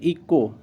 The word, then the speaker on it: echo: एच को यहाँ से साइलेंट कर देते हैं, जिससे ई को, से ECHO, ई को पढ़ते हैं, इको, ठीक है। इको हो गया। यहाँ पर एच पहले आया है, ओ बाद में आया है, तो यहाँ पर इको हो गया। एच यहाँ पे साइलेंट हो गया। ECO का ही हम प्रोनाउंसिएशन करेंगे, अदरवाइज नहीं।